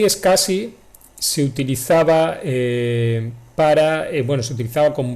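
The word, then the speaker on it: SCSI: de escasas s cs y se pronuncia es casi del inglés es casi web es un una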